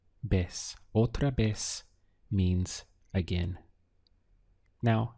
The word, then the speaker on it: vez: So we have otra, and remember this V carries a B sound in Spanish, so the pronunciation is vez, vez.